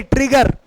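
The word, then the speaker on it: trigger: हैं पिग पढ़ने हैं लेकिन अगर बीच में डबल जी ए गया बेटा यहां देखना बीच में डबल जी ए गया तो त्रिजेर ने ट्रिगर क्या बोलेंगे ट्रिगर बोलेंगे मतलब कभी भी किसी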